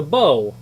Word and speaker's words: bow: the key look like the bow rhymes with toe the bow of the